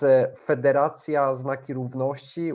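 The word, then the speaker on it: Federacja Znaki Równości: And actually, as to the pronunciation of the name of this group, it's Federacjia ZNAKI RÓWNOŚCI, which means Signs of Equality Federation.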